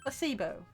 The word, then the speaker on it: placebo: Placebo. The stress is on the middle syllable. Placebo.